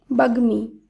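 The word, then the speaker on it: বাগ্মী: শব্দগুলির উচ্চারণ একই হবে তাই যুগ্ম এই শব্দের শুদ্ধ উচ্চারণ যুগ্ম বাগ্মি এর শুদ্ধ উচ্চারণ বাগ্মি যুগ্ম বাগমি এই দুটি শব্দ রয়েছে গ এর সঙ্গে ম যুক্ত তাই এই সূত্র অনুসারে গ এর সঙ্গে যখন ম যুক্ত থাকবে তখন শব্দটির উচ্চারণ একই হবে এরপর রয়েছে বাঙময় এখানে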